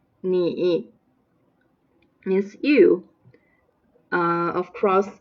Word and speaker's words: 你: The first one 你 pronounced like the third tones 你 means you.